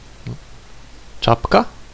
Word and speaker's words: czapka: CZ is pronounced Ch, and you can find it in the words czapka, which means a winter hat, czekać, which means to wait.